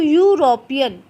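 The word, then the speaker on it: European: देखो बच्चों यूरोपियन, तो यूरोपियन में आवाज़ वोवल साउंड नहीं है, इसलिए ए आया, ये याद रखना, हालांकि स्पेलिंग वोवल से थी।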